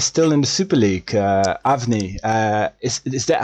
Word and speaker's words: Avni: Avni, is that how I say it right? Just because that's how I'm gonna keep saying your name. Yeah, that's correct. All right, Avni, go for it first.